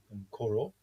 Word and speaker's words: Nkorho: there in the background, spelt like it is in the top left-hand corner, Nkorho, Nkoro.